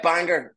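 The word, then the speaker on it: Bangor: is that right yeah Banger there Banger there's a hard G okay Banger yeah yeah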